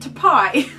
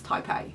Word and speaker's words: Taipei: was love taipei now i was calling it to pie for a really long time until uh emma novella told me that it's taipei so apologies that i butchered